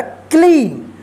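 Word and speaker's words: clean: तो देखिए यहां पे जो है ना, इसका रूल है कि ई और ए जब एक साथ रहता है, यानी वोवेल ई और ए ये दोनों एक साथ किसी वर्ड में लिखा जाएगा तो इसका जो उच्चारण होता है ई होता है, दीर्घ ई, ठीक है।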